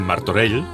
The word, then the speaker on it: Martorell: Porque le encarga a su vicepresidente, Fernando Abril Martorell. Qué bien pronuncias esa L. Esa L final. Esa L catalana estupenda.